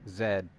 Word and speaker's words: Zed: Zed, like how the British say the letter Z.